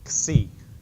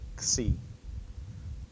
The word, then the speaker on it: Xi: comes into English as an X so it's Xi everybody say Xi like an X the next letter is Omicron